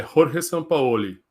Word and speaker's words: Jorge Sampaoli: como é que Marcão a pronúncia Correta que para mim é rorge sampaoli não é sampaoli mas o o o é mais fechado ou mais aberto é porque eu ouvi